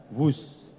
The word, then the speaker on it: Whoosh: operasi optimal sistem hebat sekali lagi w h o o shh tapi membacanya wus kereta cepat Jakarta Bandung